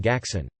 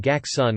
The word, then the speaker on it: Gackson: Also, I'm dying over here calling him Gackson with a hard G like everyone ever for his whole life will pronounce it.